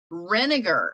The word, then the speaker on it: Renegar: your last name how do you say that rinegar renegar okay and and we have Valeria on as